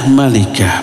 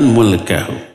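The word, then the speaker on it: مالكه: Nah, jadi maknanya adalah malikah bukan mulkahu. Dibacanya malikah bukan mulkahu.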